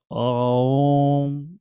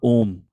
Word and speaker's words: Om: Om, A-U-M. It's not Om. Om, like that, there's a Sanskrit they pronounce.